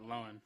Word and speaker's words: Lohan: fact when talking about lindsay lohan pronounced it lowen that's totally something norm would do like get it right when everyone else is just yeah yeah so